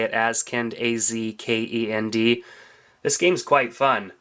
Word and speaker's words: Azkend: I think that's how you say it, Azkend, A-Z-K-E-N-D.